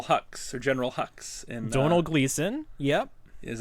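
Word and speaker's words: Domhnall Gleeson: that played Admiral hu or General hux in Donald gleon yep is how you pronounce it I was it he's Irish skipping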